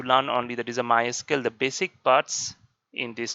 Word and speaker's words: MySQL: of databases like a my SQL or you can pronounce like a my sequel then Oracle Oracle then